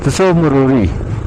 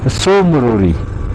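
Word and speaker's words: Tso Moriri: और जैसे हम लोग बोलते हैं तसो मरोरी, सो मरोरी, नॉट तसो मरोरी, सो मरोरी, टी साइलेंट।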